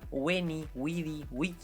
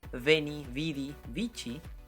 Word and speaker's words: veni vidi vici: che antes y así la famosa frase de julio césar veni vidi vici se pronuncia when we the week y en latín clásico y veni vidi vinci en el eclesiástico si bien hoy en